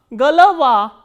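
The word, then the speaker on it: голова: So, these unstressed o will be pronounced as a. So, g, l, va, galava.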